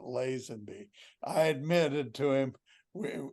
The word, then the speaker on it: Lazenby: will tell you that Jack Kent cook told me once that I didn't know how to pronounce my own last name Mo most importantly what was your response and can you say that on the air yeah no I I I said well my father pronounced it Len be I admitted to him